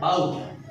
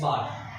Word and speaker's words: bought: एक normal British English में बाउट निकलता है और अमेरिकन इंग्लिश में बाट. इट्स नॉट बाउट, इट्स बाट.